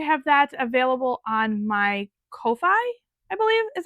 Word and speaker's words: Ko-fi: I am going to have that available on my Ko-fi, I believe is how you pronounce it.